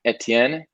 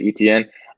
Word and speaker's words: Etienne: found out that travis etienne that's the the french pronunciation etienne i know some people say etn um he's out for